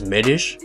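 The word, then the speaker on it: Medić: regards to medish his his surname is pronunciated as as medish but spelled medic and it makes sense all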